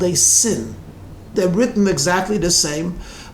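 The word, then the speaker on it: שִׂין: it's pronounced shin and the second one has a dot on the left it's pronounced sin so when the rebbe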